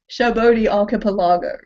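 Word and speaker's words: Sabaody Archipelago: Shabodi Archipelago. That's how you pronounce it in English.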